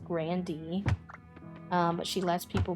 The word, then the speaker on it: Grande: Like her last name is actually pronounced Grandy, but she lets people pronounce it Grande to kind of, you know, go alongside with that.